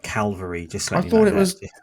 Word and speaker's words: Calvary: Yeah, Harry, it's cavalry, not calvary.